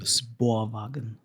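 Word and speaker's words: spårvagn: It's a Swedish word for tram and it's pronounced sporagen. All right, sporwagen.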